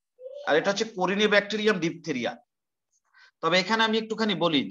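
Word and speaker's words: diphtheriae: লেখো স্কোরিনে bacterium ডিপথেরিয়া, স্কোরিনে bacterium, এটা তার জেনাস, করিনে ব্যাকটেরিয়াম, উদাহরণ হচ্ছে করিনে ব্যাকটেরিয়াম ডিপথেরিয়া, DIPTHERIAE, ই এর উচ্চারণ না করলেও হবে, ডিপথেরিয়া, করিনে ব্যাকটেরিয়াম ডিপথেরিয়া, মানে এটার জন্য আমাদের ডিপথেরিয়া রোগটা হয়।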